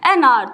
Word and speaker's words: hour: we pronounce this word, तो H का sound जो है वो साइलेंट होता है। इसे हम हार नहीं कहते, इसे हम आर कहते हैं, we call it an hour।